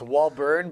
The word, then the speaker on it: Walbourne: Yeah, so it's Walbourne, but it's spelled Bourne.